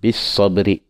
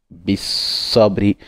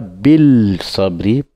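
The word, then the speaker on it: بالصبر: Et deuxième Watawasaw vient pour prononcer en disant bis sabri. Donc on va aller Watawasaw. Watawasaw bis sabri. Donc on ne dit pas bil sabri parce que nous ne sommes pas sur la lettre lunaire, nous sommes sur la lettre solaire.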